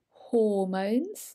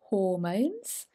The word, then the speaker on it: hormones: the pronunciation here is hormones don't forget that h i need to hear it hormones and adrenaline they usually